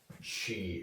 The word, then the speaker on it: qi: Um, so with Chinese medicine, there's this concept of chi energy. It's spelled qi but pronouncedq chi.